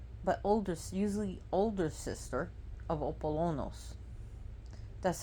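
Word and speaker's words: Ἀπόλλωνος: She is the twin sister, but usually older sister of Apollonos. That's how you pronounce his name in Greek, and people call him Apollyon, and the Roman pronunciation is Apollo.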